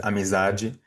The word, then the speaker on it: amizade: Amor and well, in Brazilian Portuguese, we pronounce it as amizade and amor.